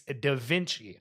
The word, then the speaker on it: Da Vinci: It's not pronounced Da Vinci, it's Da Vinci.